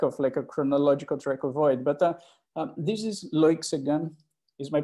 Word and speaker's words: Loïc Séguin: But this is Loïc Séguin. Is my pronunciation good, Thomas? Loïc Séguin.